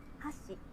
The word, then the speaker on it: 箸: For example, if you say hashi, it means chopsticks. 箸、 But if you say hashi, it means bridge.